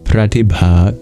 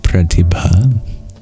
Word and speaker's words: pratibha: arise without conscious reflection or reasoning the word pratia comes from the prepositional particle prati which means